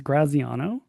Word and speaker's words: Graziano: Um your last name to me seems straightforward, but I'm going to take a stab as Graziano.